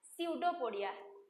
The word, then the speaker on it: pseudopodia: Here we are pronouncing from S. P is silent here, but while writing you need to write P. But we will pronounce it as pseudopodia.